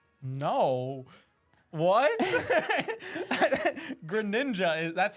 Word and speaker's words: Greninja: name one more character um usually hear Greninja pronounced as green ninja no what Greninja is that's how it's said in the game